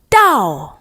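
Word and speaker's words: 到: call it in Chinese it would be to da da da all right fourth tone da it means to reach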